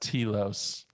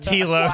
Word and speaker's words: Telos: those of you that have been listening to The Living Force since its inception, I just want to say it's pronounced Telos. Oh my God! It is pronounced Telos.